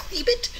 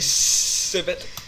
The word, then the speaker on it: scribit: It's actually pronounced scribit. It's actually scribit.